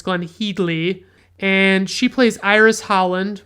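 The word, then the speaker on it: Glenne Headly: which by the way is apparently how you pronounce her name it's glenn headley and she plays iris holland mr holland's wife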